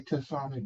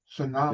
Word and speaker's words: tsunami: I say tami but tsunami.